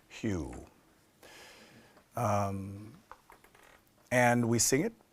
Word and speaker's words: HU: it's a mantra called Hugh it's written hu um it's a mantra you will find in many Traditions it's pronounced Hugh um and we sing